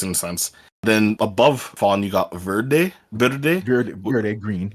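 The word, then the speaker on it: Fon: and then you got fawn which is spelled f-o-n in anime vlog that's the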